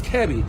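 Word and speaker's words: Kebe: chichner uh kevi so i've been pronouncing that it's not kiwi it's kevi and when uh her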